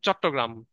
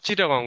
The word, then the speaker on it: চট্টগ্রাম: আমরা ওই তোমাদের তোমরা এখন ধরো, যেমন চট্টগ্রাম আর চিটাগং, তাই না? চট্টগ্রাম উচ্চারণ করতে পারতেছিল না বলে সেখান থেকে চিটাগং হয়েছে।